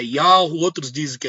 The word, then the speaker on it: Yahweh: Outros dizem que é Yahweh, outros dizem que é Yahushua, outros dizem que o nome do filho é Yeshua.